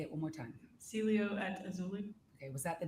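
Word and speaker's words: Cielo Azul: Celio at Azuli. Say it one more time. Celio at Azuli.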